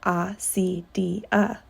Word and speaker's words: acedia: The fathers called it acedia, pronounced A-C-D-A.